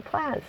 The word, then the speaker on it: Plazz: I come in Zazu plaz so I'm going to continue to to use Know My Name the name plaz plasic I'm going to pronounce it plaz because plaz rhymes with zaz and you know that's